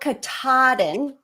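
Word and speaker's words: Katahdin: I was tired Brad that's pronounced M Kaden Kaden that's how people in Maine say it Mount Kaden Maine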